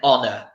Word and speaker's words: honor: nest our under okay we do not pronounce the H in those words yes an Italian exactly